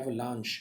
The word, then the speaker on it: avalanche: देखिए यहाँ पर वर्ड आ रहा है एवलांच, सी एच का 3 तरह से प्रोनाउंसिएशन होता है, एक तो च जैसे चाइल्ड, एक श जैसे यहाँ पर एवलांच, या एक बहुत कॉमन वर्ड है शेफ, खाना बनाने वाला आदमी, और तीसरा क जैसे केमिस्ट या केमिस्ट्री, ओके, केमिकल। तो 3 प्रोनाउंसिएशन होती हैं, श वाली प्रोनाउंसिएशन काफ़ी कम है।